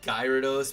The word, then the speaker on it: Gyarados: yeah Gyarados I mean it could be gyrados but like I'm pretty sure in the TV show they pronounce it Gyarados so I've always just stuck with that for gyro dude Gyros